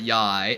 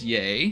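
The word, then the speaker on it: Yae: yay miku is awesome it's not it's not yai it's yay because if you play um hoyo versus other game it's um it's not pronounced yai it's yay so it's like saying bae except for why so i mean i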